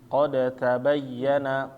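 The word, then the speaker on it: قد تبين: Ketika dalnya sukun bertemu dengan huruf ta hidup, maka dia langsung masuk.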